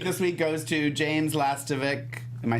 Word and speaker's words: Lastovic: All right, my quote of the week this week goes to James Lastovic.